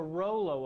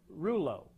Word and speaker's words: rouleau: That's the Rollo effect, or Rouleau, depending on what part of the world you're from. The pronunciation varies.